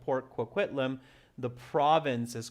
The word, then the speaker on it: Port Coquitlam: It's from my hometown area, so that's why I know the pronunciation. Port Coquitlam, yeah.